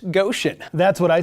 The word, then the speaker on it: Goshen: fashion trend coming out of the land of Gaussian oh my gosh Ian it's pronounced Goshen that's what I said those stories and more